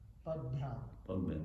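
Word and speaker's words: पद्भ्याम्: Padbhyam, okay. Padbhyam bhagavato jajne Shushusha dharma siddhaye Tasyam jata pura shudro Yadrutya tushyate hari। Padbhyam bhagavato jajne Shushusha dharma siddhaye Tasyam jata pura shudro Yadrutya tushyate hari। Padbhyam bhagavato jajne Shushusha dharma siddhaye Tasyam jata pura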